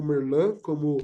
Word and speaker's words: Merlin: A gente vai estar aqui com a Fabi Tanaka, ela é CISO na Leroy Merlin, ou Merlin, como se fala na pronúncia correta.